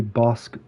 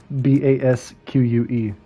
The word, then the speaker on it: Basque: Franco's nationalists launched a major offensive against Republican-held Bilbao in the Basque country, I think is how it's pronounced. No. It's Basque.